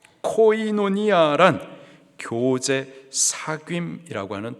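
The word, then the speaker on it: κοινωνία: 겁니다 특별히 여기서 나누어주다에 해당하는 헬라 단어의 발음이 코이노니아 코이노니아 교제 사이라고 하는 또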